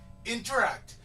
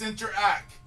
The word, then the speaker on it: Interac: interact doesn't exist it's interact there's a reason why there's no T at the end and the reason is because you don't pronounce the T at the end okay Chipotle another one